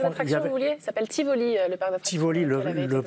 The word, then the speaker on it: Tivoli: Le parc d'attraction, vous vouliez, ça s'appelle Tivoli, le parc d'attraction. Tivoli, le parc de Tivoli, très sympa. Ça se prononce bien comme ça, hein, je précise.